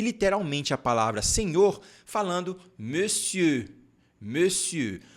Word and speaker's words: monsieur: a palavra senhor falando monsieur monsieur por mais que nós temos aqui esse mon a gente não pode falar mon a gente fala me é como se fosse esse biquinho aqui ó me si como é que eu